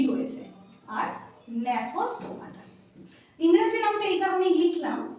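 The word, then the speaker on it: Gnathostomata: আমরা বলি, প্রোনাউন্সিয়েট করি আনাথা, আমরা প্রোনাউন্সিয়েট করি আনাথা। আর ন্যাথোস্টোমাটা, এখানেও একটা জি রয়েছে, আর ন্যাথোস্টোমাটা।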